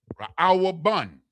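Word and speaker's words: ראובן: Raaw bun.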